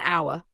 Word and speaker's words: hour: Also an hour, an honest man. Why? H is silent.